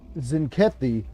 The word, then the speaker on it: Zenkethi: Zenkethi here? The T apparently is silent.